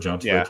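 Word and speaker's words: Jeanty: do you say Heisman I call him ginty but I've heard JN but let's just call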